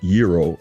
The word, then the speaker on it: gyro: of course you know a gyro or properly pronounced euro is you know a Greek delicacy right it's